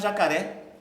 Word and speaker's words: jacaré: Mas jacaré, vejam a última sílaba terminada em E, tá certo?